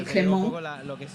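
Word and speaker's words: Clément: Who actually, of course, well, in French, he told us the other day that it's actually Clement.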